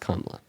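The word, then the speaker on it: Kamala: And by the way, her name is pronounced Kamla.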